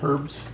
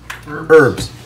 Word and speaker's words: herbs: my our herbs yeah herbs herbs herbs herbs the h is silent i don't care what anybody says it's silent so there you go